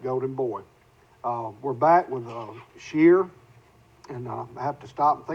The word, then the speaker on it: Shearer: We're back with Shearer, and I have to stop and think about, is that the correct pronunciation?